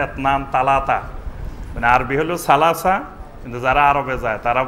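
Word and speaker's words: ثلاثة: তো অনেক অঞ্চলে সা অক্ষরটিকে তারা তা উচ্চারণ করে, অর্থাৎ এসনান বলবে না, বলবে এতনান। সালাসা বলবে না, বলবে তালাতা।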